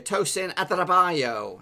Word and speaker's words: Tosin Adarabioyo: And there is the pronunciation for you. Tosin Adarabioyo.